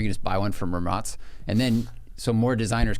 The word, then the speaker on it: Rimac: And thanks for pronouncing it correctly. Yeah, I love it. People Ramatz. are always like, they're like Rimac. I'm like, no, It's hard. Ramatz.